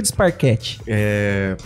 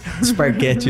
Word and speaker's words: Disparquet: se tiver na França, Disparquet. Se tiver em Sorocaba, Disparquete mesmo, né? A gente tentou bastante tempo que se pronunciasse o nome correto, mas não foi tão acatado, eu diria, né?